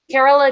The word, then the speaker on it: Carola: Carola Dunn. Yeah. It's like Carol with an A on the end.